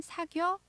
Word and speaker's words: 사귀어: 사귀어요 라고 할 때 물론 발음 상으로는 사겨 라고 짧게 말하게 되지만 기억에 여 가 아니라 사귀어 이렇게 새 글자 로 나눠서 쓰는 게 맞습니다 그래서 오늘 표현은 너